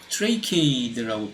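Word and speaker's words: tracheid: 근데 두 가지 종류의 물관, 자일렘은 두 가지 종류의 이제 조직들이 있는데, 헛물관, 트레이키에이드라고 발음하는 헛물관과 물관 요소, vessel element라고 하는데, 이 물관 요소가 조금 더 진화된 그런 타입의 물관입니다.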